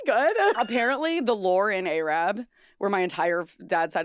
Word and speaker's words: Arab: Pronounced Arab.